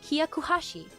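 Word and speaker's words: ひゃくはち: He said, 108 in Japanese is read Hyakuhashi. It rhymes with shakuhashi, a traditional recorder-like instrument which is also slang for blowjob.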